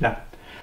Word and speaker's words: Lang: Le nom a été par la suite déformé en Lang, qui se prononce à la française comme L'-A-N ou Lang, L-E-N-T, ou comme on dit du sang. On ne dit pas du sein, on dit du sang.